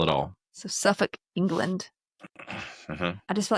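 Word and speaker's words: Suffolk: some school children in Suffuk Suffuk. Is it Suffukk? Suffuk. Yes. Suffuk England. They don't Yeah. They don't pronounce that L. Yeah. No, they in the in the UK they don't pronounce the L.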